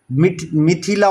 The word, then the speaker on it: मिथिला: तो वज्जी की 3 कैपिटल, वैशाली, मिठाईला और विदीहा। मिथिला बोलते हैं वैसे हिंदी में इसको, मिथिला, लेकिन हम इस तरह से बोल रहे हैं ताकि आपको याद हो जाए।